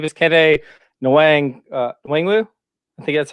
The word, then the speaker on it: Kene Nwangwu: All right, his name is Kene Nwangwu. I think that's how you say it. Nwangwu? Once again, you're pronouncing it better than me.